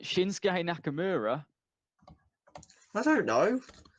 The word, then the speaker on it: Shinsuke: some very interesting stories could I please have shinuki Nakamura if you say his name right shinsuke Nakamura I don't know it's spelled like that shinsuke mixed up with the